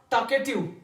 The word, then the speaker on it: talkative: फिर है हमारे पास talkative. Talkative. L is silent.